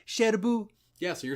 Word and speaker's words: Cherbourg: umbrellas of Cherbourg is whenever they say Sherbrooke they actually say shadow boo yeah so you're saying